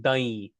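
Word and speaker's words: દહીં: It's spelled d h d h but it's pronounced dahi dahi.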